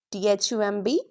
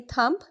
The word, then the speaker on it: thumb: If B comes after M, don't pronounce it as T H U M B thump. N wrong. T hu m right easy Hannah now let's